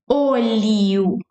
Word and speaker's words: olho: So you close your mouth and do like oh, you know, when you do like oh, olho.